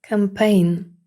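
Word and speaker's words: campaign: не читається нац компанія campein наприкінці слова тому г теж не читатиметься кампайн іноземний furing суверенний саврин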